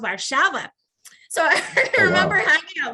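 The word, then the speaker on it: Warszawa: words you know because before i went to warso i thought that that's how it was pronounced and then i learned it's pronounced varshava so i remember hanging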